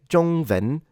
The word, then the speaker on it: 中文: When it comes to the word 中文, northern speakers tend to pronounce the W as a V. So even if you say 中文, it's okay. In standard, so 普通话, the W should be pronounced as a W.